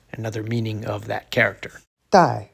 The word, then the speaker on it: 戴: Dai, fourth tone.